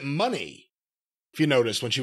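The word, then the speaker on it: Moné: Mercedes Mone. Well, yes. And actually, she pronounces it money, if you noticed, when she was talking.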